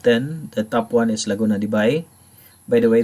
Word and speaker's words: Laguna de Bay: the top one is laguna de bai by the way this is pronounced as by not be in it and cebu